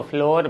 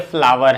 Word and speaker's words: flour: ये FLOUR को फ्लोर बिल्कुल भी नहीं पढ़ेंगे, ये फ्लावर है, फ्लावर सोचेंगे फ्लावर मीन्स तो फूल होता है।